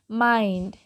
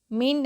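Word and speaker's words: mind: हो जाएगी child okay M आई एन डी माइंड मींड नहीं माइंड नेक्स्ट है वाइल्ड डब्लू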